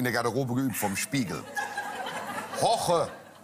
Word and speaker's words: Jorge: Hoche, wie spricht man aus? Hoche. Er kann sehr gut meinen Namen sagen. Ja? Ja. Aber diese Woche koche mit Hoche.